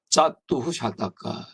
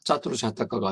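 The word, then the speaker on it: चतुःशतक: 원래는 짜뚜루 하면 사는데 뒤에 샤타카가 와요. 샤타카. 그래서 시옷 발음이 옵니다. 그러면 어떻게 돼요? 어휴 뺏겼어? 어서 뺏겼어? 뭘까요? 뺏겼어. 써가 왔어. 저 시옷이 왔어요. S자가. 그럼 어휴 뺏겼으니까 흐를 쓰는구나. 짜뚜후 샤타카. 짜뚜루 샤타카가 아니고 짜뚜 샤타카입니다.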